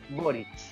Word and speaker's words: Boric: Si la web es Boric. Pronunciamos bien la buena por Marcelo.